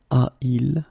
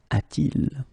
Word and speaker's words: a-t-il: Alright, so il a should become a-il, but then it doesn't sound nice, so it's a-t-il.